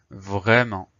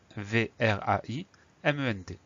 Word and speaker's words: vraiment: Donc on fait attention à la lettre muette, le T.